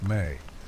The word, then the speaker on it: me: Sumerian texts mention the abstract concept of the mi pronounced may a collection of divine decrees or sacred powers that the gods possessed.